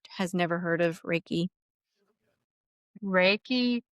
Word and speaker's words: Reiki: Reiki consists of two syllables. So there's Rei and Ki.